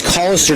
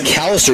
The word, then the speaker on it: Callister: It's actually found out it's Collister, not Callister, even though it's spelled with an A.